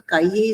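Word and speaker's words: cahier: C and A will be Ka and I will be E and E is as A and last letter is not pronounced. So Kaiye is a notebook.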